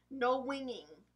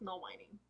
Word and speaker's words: No Whining: Next is the shade No Winging. No Whining? Oh, it's No Whining. It's spelled like wine, like what you drink.